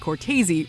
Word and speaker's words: Cortez: when he brought up Dan Cortez actually pronounced courtesy repeatedly needless to say